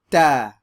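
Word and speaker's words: تاء: This next one is like the T sound in English, but without the thrust of air, like t, t, right? So we're going to say ta. Notice I'm not saying ta, ta, but it's a more clean pronunciation.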